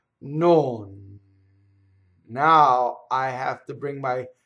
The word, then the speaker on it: non: I go non vuole. Notice the motion. I had to go up, I had to go down, I had to go back up again. So what else happens? When I release the tongue to bring it back out, I have to keep a vowel going for legato, so then there's a shadow vowel.